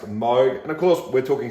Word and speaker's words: Moog: um but freaky facts of course it is pronounced moog and of course we're talking synthesizers here in